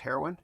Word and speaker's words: Haroun: H A R O N pronounced heroin, sorry.